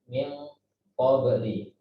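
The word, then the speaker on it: مِن قَبْلِ: Min qabli. Nah, kita bacanya harus tebal. Min qabli. Jadi nunnya, pendengungnya diikhfakan dan ditebalkan.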